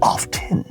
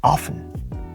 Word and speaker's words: often: a little bit different we don't say often in the American accent it becomes often often you don't even hear the T often the T comes silent often to sound more